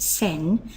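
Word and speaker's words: 千: the Ki for thousands it's pronounced sen and let's have a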